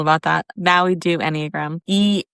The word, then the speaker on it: Enneagram: Now we do Enneagram. ENNE, like GARM. Like it's spelled with an E, not, A. Enneagram.